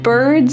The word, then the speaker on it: bird: We already talked about the word bird and how it uses that colored R, that hard R sound.